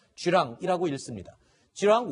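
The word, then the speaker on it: 巨浪: 이렇게 해석을 할 수 있을 것 같은데 중국식으로 발음하면 쥐 람 일하고 있습니다 지황 원 부터 시작해서 esl bmb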